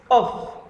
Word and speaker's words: off: be the train sets off and please remember that if we have one F it's pronounced as of but if we have two F we will say off so it will be